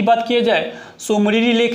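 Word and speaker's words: Tso Moriri: सोमरीरी lake. T यहाँ पे silent है, ओके।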